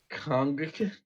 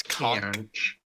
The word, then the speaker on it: conch: I like how the definition insults us and says "learn to pronounce." Both is fucking okay, noun. is what I'm trying to get at. Conch. It's conch and conch.